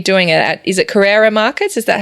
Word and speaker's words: Carrara: Cassandra's done this festival before, and I will be doing it at, is it Carrara Markets? Is that how you say it, Cass? Carrara on the Gold Coast.